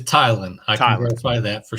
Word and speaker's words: Tylan: is i heard some people say teelan so is it teelan is it thailand can you clarify his his pronunciation it is thailand i thought by that